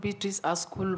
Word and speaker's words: Beatrice Askul: out there you are betric asul yes Mr Speaker have I pronounced your name correctly yeah it's called betric asool yes correct welcome once again you